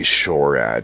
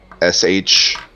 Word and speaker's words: Shorad: back to the Dragonborn you can call me shoread here s-h-o-r-a-d I'm not gonna write this down because I'm